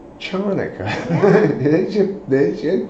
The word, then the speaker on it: Chanukah: Because they spell it with a CH, Yeah. right? CH doesn't sound like... It sounds like ch. Okay? So just, if you're gonna call it Hanukkah, lose the C.